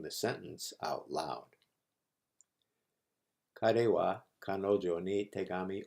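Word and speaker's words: は: Our first connector is usually pronounced ha, but when used as a connector, it is pronounced wa. Ha becomes wa when it's used as a connector.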